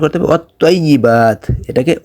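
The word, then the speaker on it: وَالطَّيِّبَاتُ: তো ত এর উচ্চারণ করতে হবে আপনাকে একটু মোটা করে, ত জবর ত, তজের তি, ত পেশ তু।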